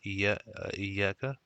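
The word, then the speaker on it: إياك: This is always pronounced iyaka, and then what iyaka.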